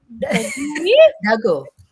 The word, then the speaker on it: Dagoe: Dago.